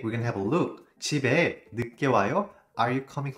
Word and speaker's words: 집에: But one question here I pronounce 오늘 집에 늦게 와요 집에 not the s sound you know why because